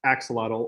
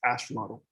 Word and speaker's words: axolotl: Chillax is part chinchilla, part axolotl, or if you actually pronounce it correctly, it's axolotl.